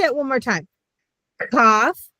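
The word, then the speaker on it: Qof: Again, so KOF, Shin, Cough, and Sadi. And again, Saudi's on their knees, right? So, we did the finals. Cough, Sadi, and Fay. Okay. The cough looks like a K.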